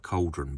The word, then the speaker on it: Chaldron: And with my Essex accent, it really does sound like cauldron, but it is, as you can see here, spelt with a CH on here.